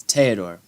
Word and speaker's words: Theodore: Theodore. It's Theodore.